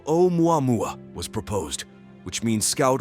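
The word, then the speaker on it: ʻOumuamua: In addition to the technical name, the Pan-STARRS team gave it the Hawaiian name Oumuamua, pronounced Oumuamua, which means a messenger from afar arriving first.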